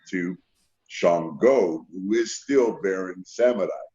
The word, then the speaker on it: Shango: I like this, and the correct pronunciation of it is Shango. But I thought Shango sounded country, and I didn't want to say Shango. It sounded too country to me. So I pronounced it Shango because I made it a little deeper.